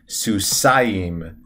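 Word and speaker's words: סוסיים: to a duel you would use the ending susayim susayim so soos susayim for two and susim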